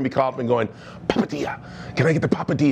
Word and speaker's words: Papadia: How can we make the Papadia a little bit, you see how you say that? Papadia, you have to say it like that.